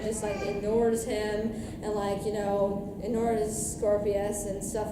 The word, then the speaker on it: Scorpius: I believe I'm pronouncing Draco's son's name right. Scorpio. Scorpius.